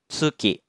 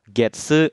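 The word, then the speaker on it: 月: Jadi cara baca kunyominya untuk kanji bulan sedikit minasang, cuma satu, yaitu tsuki. Untuk ongyominya ada 2, yaitu getsu dan gatsu.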